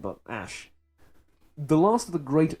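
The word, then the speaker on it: Ashe: I mean, it's Ash with an E at the end, but Ash.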